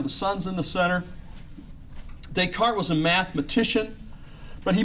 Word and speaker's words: Descartes: Well, let's talk about a guy by the name of Descartes. René Descartes, not René Descartes. Although that's the way it's spelled, that's not the way the French guys would say it.